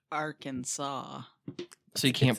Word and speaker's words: Arkansas: Oh, Arkansas must be pronounced Arkansas.